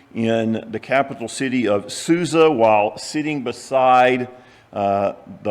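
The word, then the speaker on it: Susa: which translation for example the King James version pronounces it or translates it as shushan but it's the same place it's just a little different pronunciation of the same uh Hebrew word.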